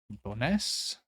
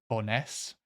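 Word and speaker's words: Bo'ness: accents um but to boness I think the emphasis like always or the stress is always in the second syllable in Scottish Scottish places pretty much always and ah what am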